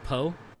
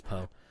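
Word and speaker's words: Pugh: I think it's pronounced Florence Poe.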